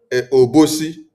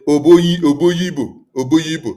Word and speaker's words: Obosi: You don't expect me to pronounce Obosi, or he be Oyibo, then I will now say Oboyibo.